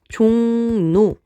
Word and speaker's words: 종로: 그래서 얘를 한번 들어보면 자 종로라면 글자가 있으면 적을 땐 종로라면 여러분이 발음할 때는 종로라면 뒤에 가서 조금 더 배우긴 하겠지만 앞에 있는 이응의 영향으로 뒤에 있는 리을이 영향을 받아서 니은으로 바뀌었기 때문입니다 그럼 영향을 준 애